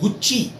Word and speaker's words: Gucci: Okay, so Italian brand that is pronounced as गुच्ची, GUCCI. Then Versace. CI अगर जिस word में है समझो इटालियन है लास्ट में, और CE समझो वो भी इटालियन है, तो C की साउंड च हो जाती है.